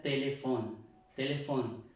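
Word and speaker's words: téléphone: a la F, que cuando encontramos en el francés una P y una H, se pronuncia como una F. Más que todo esto es en palabras, en la mitad de la palabra, como di el ejemplo ayer, se escribe telepon, la P y la H y la O, y se pronuncia telefón.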